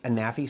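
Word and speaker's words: Anafi: It's either the Anaffi or Anaffi. Anaffi seems to be the most likely pronunciation.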